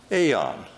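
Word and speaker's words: aion: Now, in the New Testament, there's a word for forever, and that's the word aeon or ion. Pastor Jim here can probably tell me how to pronounce that.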